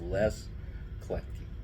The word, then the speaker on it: Kletke: but my name is Les Kletke. Oh gosh, what a great name! And um, we were so poor we couldn't have any silent letters. So you say them all. It's LESKLETKE.